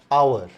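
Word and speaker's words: hour: Another example is आवर। आवर में again H is silent.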